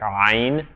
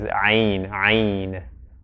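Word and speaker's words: عين: name of the letter, often people say like ayn, as if it's emphatic, but the most correct way to pronounce the name of the letter is ayn.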